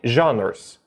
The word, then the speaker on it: genre: Итак, movie genres. Именно это слово, жанр в русском языке, на английском читается как genre.